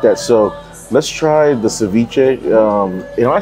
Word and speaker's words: ceviche: I I like that so let's try the ceviche um am I saying it correctly yeah ciche okay all right so the ceviche usually can